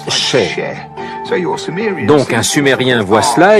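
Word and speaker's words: še: Le mot orge en sumérien se prononce Sheh.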